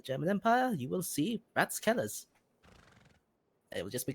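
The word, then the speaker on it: Ratskeller: people here call it wrath skell but uh I think it's well it's technically pronounced rats Keller as in council's sell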